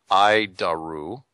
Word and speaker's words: ADIRU: So, the ADIRU system, also known as the Air Data Initial Reference Unit, we pronounce it IDARU, is the standard in modern avionics.